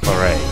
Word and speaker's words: claret: Or should I keep pronouncing it with the you know, it's like French silent T, so claret.